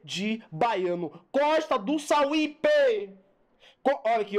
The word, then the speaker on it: Sauípe: Costa do Sauípe. Olha aqui, ó. Vamos separar. Sauípe. Sauípe. Vem comigo, veja. Ó, veja aqui, ó. Considerando a palavra Sauípe na propaganda, é correto afirmar que... Vamos lá na palavra Sauípe.